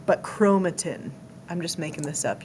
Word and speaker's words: chromatin: You pronounced it wrong, but chromatin.